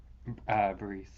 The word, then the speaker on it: bris: Bris. bris. Great. From the word meaning covenant. Again, that's the Ashkenazi Sephardi pronunciation being weird.